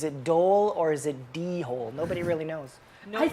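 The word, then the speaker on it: dhole: I go dole like the fruit.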